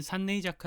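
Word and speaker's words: 産寧坂: 로 가는 길이 있습니다 원래는 산내 이자 카 라고 불리우는 곳입니다 여기선 산이 출산을 의미하고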